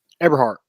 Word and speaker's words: Eberhardt: Eberhardt.